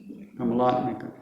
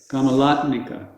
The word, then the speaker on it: Kamalatmika: They're all Yeah, the last, it's Mika, it's not Mika, it's Mika. Kamalatmika. Kamalatmika. All right. I mean, we're exaggerating. People don't say it quite to that extent, but it's a softer.